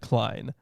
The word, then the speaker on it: Klein: I want to pronounce it Klein.